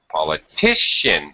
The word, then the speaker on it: politician: uh great political political politician notice the difference politician poltical yes the stress changes that's because the I